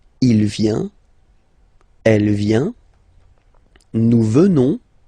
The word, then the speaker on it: venons: Final S not pronounced, so you will get the sound venons. Nous venons.